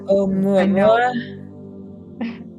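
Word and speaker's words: ʻOumuamua: How do you pronounce that? Oumuamua?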